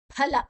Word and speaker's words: ಫಲ: ಆನಂತರ ಅಲ್ಲಿ ಅಕಾರ ಗೊತ್ತಿದೆ ಫಲ ಇಲ್ಲಿ ಫಲ ಅಲ್ಲ ಫಲ ಬಾಯನ್ನ ಮುಚ್ಚಿ ಫೋರ್ಸ್ ಅಲ್ಲಿ ಬಿಡಬೇಕು ಫಲ ತ್ಯಾಗನ್ ನಮಗೆ ಅಭ್ಯಾಸ